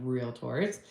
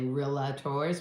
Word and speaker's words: Realtor: you become one because a lot of people say real tors with a A in there no a in there it's real tour got it national Association